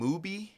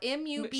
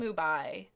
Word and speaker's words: MUBI: Are you saying Mubi? Yep. Yeah, M-U-B-I. She calls it Mubai. But it's M-U-B-I. It's not Like Tubi.